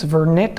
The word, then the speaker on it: Vernet: You don't pronounce the T, it's Vernet otherwise. It's probably French.